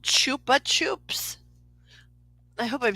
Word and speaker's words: Chupa Chups: are you talking about the rapper they're called Chupa Chups I hope I'm saying it right but it's c-h-u-p-a-c-h-u-p-s Chupa Chups and um like something about them